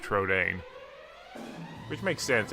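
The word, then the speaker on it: Trodain: I always call it Trojan, but it's actually pronounced Trodane, which makes sense.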